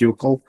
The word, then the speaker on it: UCCL: I think the most important thing is that we enable these UCCL which is pronounced U-C-L like in nickel.